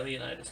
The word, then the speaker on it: Leonidas: Leonidas? Yeah, Leonidas, King Leonidas.